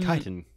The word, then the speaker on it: chitin: sex indeed made out of titan and it's pronounced chitin i was right but how is it spelled